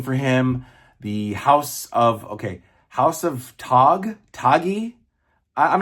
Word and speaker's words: Tagge: In the movie, it's spelled Taggi, so I assumed it was Tagge or Taji. And then I hear that it's pronounced Tag.